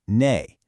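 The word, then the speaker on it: 네: In Korean, it's just "ne". It basically sounds like the English word "net" but without the T at the end.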